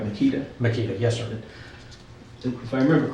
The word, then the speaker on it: Makita: Makita, yes, sir.